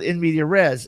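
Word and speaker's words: in medias res: entire party as an in media res, in media re, if you're pronouncing it properly with French, as a opening action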